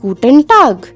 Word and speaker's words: Guten Tag: now let's start with guten tag gu ten which means good day